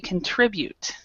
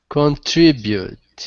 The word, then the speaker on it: contribute: contribute actually this one the stress is in the middle so we contribute contribute contribute yeah contribute okay all